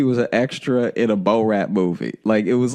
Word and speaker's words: Borat: ran like he was an extra in a Bo-Rat movie.